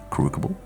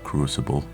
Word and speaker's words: crucible: And now we got to fill the crucable. There's There's no way that's how it's pronounced. Wait. Oh my god. It's pronounced crucible.